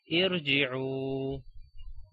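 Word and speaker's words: ارجعوا: Like here we have the third letter jim and the jim has a kasra, that's why we say irji'u.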